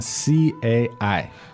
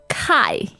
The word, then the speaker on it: 菜: Now, you might be tempted to pronounce this as kai. All right, but that would be wrong. No, the correct pronunciation for C in pinyin is a little bit like TS, isn't it?